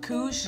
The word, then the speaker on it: Koosh: Okay, it's a KOOSH ball. Yes, it is! Yeah. KOOSH. Got it, KOOSH! It's a KOOSH ball. It's a KOOSH ball. It's a KOOSH ball. Rhymes with swoosh, starts with a K.